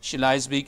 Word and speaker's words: Schleswig: Remember that the W in German is pronounced V, and all the E-I are pronounced I. That is to say, it's Schleswig and Holstein.